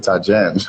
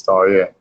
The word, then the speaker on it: Taria: Sometimes when they want to they pronounce it Tajen. I have to be the one to correct them. Like, no, that's not how it's pronounced. It is Taria.